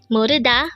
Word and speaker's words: 모르다: to not know or not to know again Moda means not to know how do we write